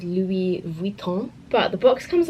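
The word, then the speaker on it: Louis Vuitton: E from now on I think the correct way to pronounce it is Louie Vuitton but the box comes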